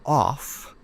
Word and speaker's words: off: We say of with a vv sound of and we say off with a f sound. That's the difference of and off.